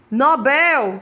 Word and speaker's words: Nobel: Mister é Mister né Nobel que é uma palavra oxitona acaba se transformando em Nobel eu já escutei muita gente dizer fulana ganhou o prêmio Nobel da Paz né recorde